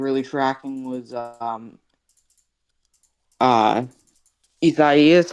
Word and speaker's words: Isaias: that was actually like really tracking was uh Isaias. How do you pronounce it? Isaias, you did that perfectly.